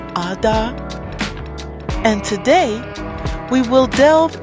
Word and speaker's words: Adah: I'm your host, Princess Adah, pronounced Adah, and today we will delve into a discussion concerning the very profound subject of love.